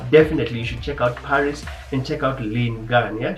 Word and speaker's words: PVRIS: She's from the band Paris. It's spelled as PVRIS, PVRIS, and Lynn Gunn is a really good vocalist.